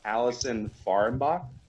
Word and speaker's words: Allison Fahrenbach: All right, today we have on Allison Fahrenbach.